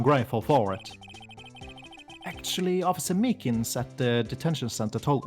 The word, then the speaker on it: Meekins: Actually, Officer Meekins at the detention center told us. Oh, that poor little doggy. Poor guy. I kept getting his name wrong and calling him meekly.